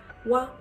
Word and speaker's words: は: So when it is used as a particle, it is pronounced as wa, wa, and he also used as a particle.